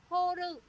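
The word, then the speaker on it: 放る: Phóng có nghĩa là horu. Horu có nghĩa là gì để các bạn nhớ trong sensei nha. Chữ phóng đứng một mình nó đi với chữ ru đọc là horu.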